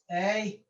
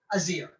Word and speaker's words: Aesir: And the Azir is spelled just like it looks. A-E-S-I-R, Azir, or Aesir, or the Asir, or the Asir. It depends on which country you're from.